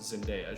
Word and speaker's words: Zendaya: Zendaya and in case you're unaware it's definitely pronounced Zendaya she's been working her entire life for people